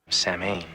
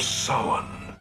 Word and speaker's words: Samhain: cult worshiping the Celtic Festival of Samhain nope Sammy not even close Paul Stephen Rudd it's pronounced more like Sauron the Festival of sowan the ancient Celtic Harvest Festival thought to have